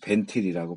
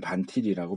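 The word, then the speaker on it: Van Til: 했던 코넬리우스 반틸 이제 벤틸이라고 번역 뭐 영어 발음은 뭐 발음학에 따라 다르니까 이제 나는 반틸이라고 배웠어요. 그렇게 알아요.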